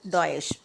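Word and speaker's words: Deutsche: UK based bank and Dees Bank it is a Germany based Bank you need to pronounce it as does next type of bank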